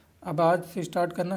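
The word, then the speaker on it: schist: एस सी एस सी आई एस टी करके spelling होती है। सिस्ट स्पेलिंग चेक कर लेना आप। सिस्ट बोलते हैं इसको।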